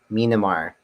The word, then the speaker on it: Myanmar: Myanmar is how you pronounce the answer.